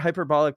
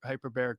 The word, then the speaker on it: hyperbaric: Hyperbolic chamber. Yeah. Hyper hyperbaric chamber. Hyperbaric chamber.